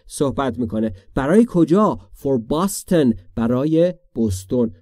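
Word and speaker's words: Boston: میکنه برای کجا فور باستن برای بستن ما فارسی میگیم بستون ولی تلفظ درستش باستن یعنی بستن یعنی کدام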